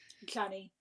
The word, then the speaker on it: Janni: Janny. Janny. Is it Janny? Yanni. Yanni. Do you Yanni? remember what he said? He said, it's spelled with a J, but it's a Y. So it's Yanni.